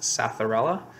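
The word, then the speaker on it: Psathyrella: We went through the key that was in Mushrooms Demystified, and we both arrived at possibly a, I think it's pronounced Satharella, P-S-A-T-H-Y-R-E-L-L-A.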